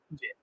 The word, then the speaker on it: GIF: I used to pronounce it Jeff, and it's not. It's Gif. It's not. I know it's not. The creator of it calls it Jif.